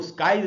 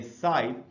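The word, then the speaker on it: scythe: जो वर्ड है दोस्तों एससी इसमें साइलेंट है इसलिए इसको स्काइप नहीं पढ़ना चाहिए इसको हम पढ़ेंगे साइज और इस उपकरण का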